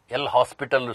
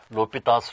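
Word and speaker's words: L'Hôpital: students read me says L hospital rule but he is a French mathematician it should be pronounced as l'hopital's rule so this is in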